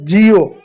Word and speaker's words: Jio: जैसे आप देखो जिओ। हमने क्या इसको पाया? Jio। कैसे जिओ पाया? जे इ ओ। अब जे का क्या हुआ? ज हो गया।